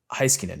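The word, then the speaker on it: Heiskanen: from dallas's point of view where they have heiskinen right that's that's how you say his name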